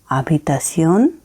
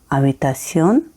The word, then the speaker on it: habitación: ला habitación de estudio। H silent है। याद है ना आपको फर्स्ट वीडियो जिसमें मैंने एच के बारे में कहा था कि एच हमेशा स्पेनिश में साइलेंट होता है।